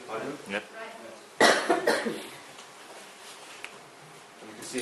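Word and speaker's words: 바둑: Baduk?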